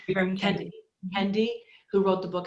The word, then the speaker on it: Ibram Kendi: Ibram Kendi? Ibram Kendi.